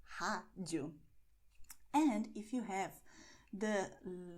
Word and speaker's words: rádio: And what this means is that we are going to have an open sound, as I told you before. Rádio. My mouth is okay? Rádio.